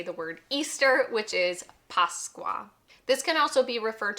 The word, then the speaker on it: Pasqua: Obviously, this is an Easter video, so we have to know how to say the word Easter, which is Pasqua.